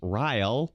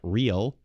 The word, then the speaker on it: Reel: Reel has every time someone pronounced my last name as Ryle, not Real.